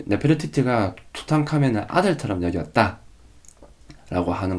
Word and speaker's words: 투탕카멘: 투트앙크아멘, 투트앙크아멘, 투탕카멘. 자, 왜 투탕카멘을 투탕카멘이라 부르는지 알겠죠? 투탕카멘은 투트앙크아멘, 투탕카멘 이거를 빠르게 발음한 거예요.